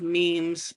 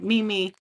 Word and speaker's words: memes: I remember when they came out with memes, I pronounced it Mimi.